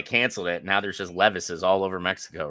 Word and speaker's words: Levi's: trunk full of bootleg Levi's, would nobody stop you? Just spelled like Will Levis. Hey man, you want some Levises? You mean Levi's? No, No, Levises. I mean Levis's.